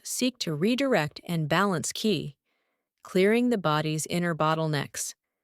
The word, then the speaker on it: qi: At acupuncture's core is the notion of qi, pronounced qi, the life force or energy flowing through the body along invisible pathways called meridians.